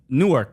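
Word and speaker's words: Newark: I'm saying newor but I'm saying it in one syllable new so it sounds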